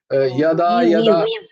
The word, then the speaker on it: যদা: এইভাবে জয়ের উচ্চারণ, উঞ্জয়ের উচ্চারণটা সবসময় ইয় হয় সংস্কৃততে। বর্গীর জয়ের উচ্চারণ বর্গীর জ জ হয়।